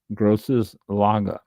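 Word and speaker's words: Große Lage: This is a term of distinction used for dry single variety wines from Germany's leading vineyards known as gross laga l a ge which is the equivalent to grand crew vineyards in France's Burgundy region.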